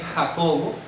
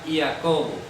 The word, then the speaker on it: Jacobo: Eso por lo menos hasta cuando se tradujo la primera Biblia de español sonaba Iacobo. Iacobo. Después de la reforma ortográfica del siglo XVIII, entonces ya vino a sonar Jacobo.